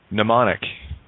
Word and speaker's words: mnemonic: The M is Greek. It's the only letter that is made silent. It's in ancient Greek. Mnemonic starts with a silent M.